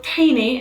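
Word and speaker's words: طحينة: little bit more so tani is that's the arabic pronunciation of tahini this is just pure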